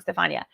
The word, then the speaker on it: Stefania: Your great question, Stephanie B. Stefania, I've been saying it wrong, Stefania.